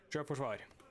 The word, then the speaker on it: Sjøforsvar: Sjøforsvar.